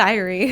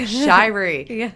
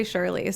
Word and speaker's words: Shirey: today we have a very special guest shuy did I pronounce that correct shyri shyri I am Infamous for always mispronouncing last names